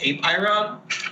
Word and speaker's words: Apeiron: Ooh, it's actually pronounced Apeiron.